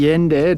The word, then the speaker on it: Yende: Today I am joined by Jesse Yende. Did I pronounce that correctly?